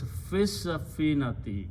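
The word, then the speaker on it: في السفينة: So when you recite, it is fissafinati. Don't pronounce this alif lam. Fissafinati. So pronounce shadda on sin.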